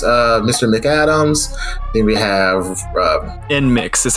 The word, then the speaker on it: NMIXX: Then we have NMIXX is how you say it, yeah.